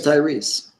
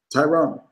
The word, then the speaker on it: Tyrese: know what I say his name is Tyrese what did I say tyronn oh my god I've